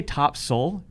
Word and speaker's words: Topsail: We're aligned that it is spelled Topsail. Okay. We are aligned, But that we're it's spelled not that way. in agreement with But how we're it's not pronounced. in agreement. Do the notes say top soul? It literally They right do. here says It top does say soul, top S-U-L.